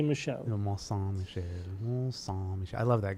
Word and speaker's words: Mont Saint-Michel: Mont Saint-Michel. Mont Saint-Michel. I love that guy. He has like so many videos of doing pronunciations.